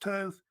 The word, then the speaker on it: Thoth: And then Thoth, sometimes pronounced Toth, was of course the so-called bird god.